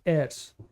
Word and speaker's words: heirs: Okay, the pronunciation of this word is not hair, it's heirs.